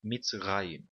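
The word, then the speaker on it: מצרים: A palavra aqui, mitzrayim, certo? A sílaba tônica é a última aqui, raim, tá bom?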